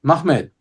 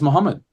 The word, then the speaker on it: Muhammad: So we're entitled to read the coins, for example, as MAHMAD. There's nothing tying us to read it as Muhammad.